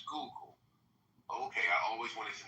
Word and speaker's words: Schuylkill: Is it Schuylkill River? Schuylkill. Schuylkill, not Schuylkill. No, it's a Dutch word. Okay, Schuylkill. Yeah, I've seen that in New York too. So it's Schuylkill.